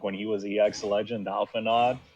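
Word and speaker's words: Alphinaud: the fact that like apparently the D is supposed to be silent or something? I've been told. Alphinaw, yeah. Okay. I've been pronouncing it correctly. I know. I do play Final Fantasy 14. So, I so figured it's called you'd like be known. Alphinaw. It's Alphinaw. Alphinaw. French. It's a French name.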